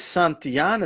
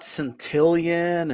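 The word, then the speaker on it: Santillán: for sure and like Gail said it is santian it's not sentian and I'm so glad she said that cuz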